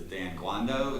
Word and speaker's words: Dan Guando: And to my left is Dan Guando. Is that pronouncing that correct?